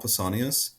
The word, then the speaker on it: Pausanias: Pausanias? I, Pausanias? I always thought of it in terms of like Paul, like the name Paul Pausanias.